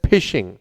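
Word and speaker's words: phishing: इट्स नॉट फिशिंग। It's just like फिशिंग बट इट is pronounced as फिशिंग।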